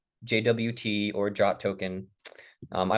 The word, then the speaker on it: JWT: Um, I might mess up and say it sometimes myself, but just so you know, pretty much anyone anywhere in coding does not say JWT, they say Jot.